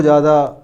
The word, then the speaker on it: ज्ञ: हैं, घुले मिले हैं, वो लोग इसके लिए ज्या बोलते हैं, और आधुनिकवादी इसके लिए ज्ञा बोलते हैं। वैसे सही अगर उच्चारण की बात करें तो ये ज्या ही ठीक है।